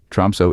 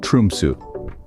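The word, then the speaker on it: Tromsø: Aurora Chasers but remember tromo isn't pronounced tromo it's more like trumu so don't make the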